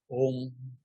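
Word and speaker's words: ॐ: So when a, u, and coalesce together phonetically, when they join together phonetically, you will get the sound om. A and u together will make it o, o.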